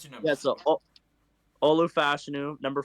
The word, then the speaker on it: Fashanu: Yeah, Olu Fashanu.